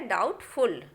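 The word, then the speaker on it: doubtful: और दूसरा है डाउटफुल, बी को नहीं बोलना है।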